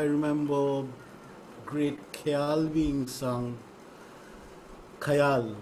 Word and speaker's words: khayal: Khayal, what you call khayal. Khayal, that's how we bongs pronounce it.